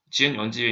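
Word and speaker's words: gunzip: GNU 언집에 있는 건집이라고 발음하셔도 되는데 건집 하시고 하시면 압축이 풀리고요.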